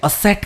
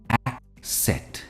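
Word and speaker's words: asset: वो है एसेट एसेट काफी लोग इसे असेट कहते हैं व्हिच इज रंग इसकी सही प्रोनंसिएशन होगी एक सेट for example a motivated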